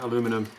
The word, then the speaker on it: aluminium: This plate here is aluminium, depends how you say it, what country. Aluminium, we say that in Australia, aluminum in the States, obviously.